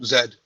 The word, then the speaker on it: Zed: Oh, Zed.